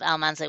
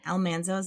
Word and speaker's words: Almanzo: That said, you might hear people on the podcast pronouncing Almanzo's name 2 different ways. People will say Almanzo, or they will say Almanzo. And mostly that has to do with the TV show, which when his name